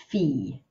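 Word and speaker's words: fille: a Doris fee fee make sure you only make one syllable with this word e fee not figure just fee then a little girl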